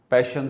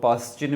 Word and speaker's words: Paschen: Page number 35 पे lemon series है, Balmer series है, पैशन सीरीज़ है, जिसको कुछ लोग पास्चिन भी बोलते हैं, कुछ पास्किन बोलते हैं। वैसे इसकी सही प्रोनाउंसिएशन जो है वो पैशन है।